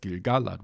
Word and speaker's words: Gil-galad: And from the meter there, you can tell that it's supposed to be Gil-galad, and then you have every second syllable stressed. Gil-galad was an elven king.